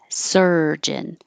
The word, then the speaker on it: surgeon: this is also weird this looks like a u it sounds like er surgeon this looks like an